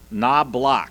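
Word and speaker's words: Knoblock: It is pronounced like a door, a knob and a lock. Knob lock.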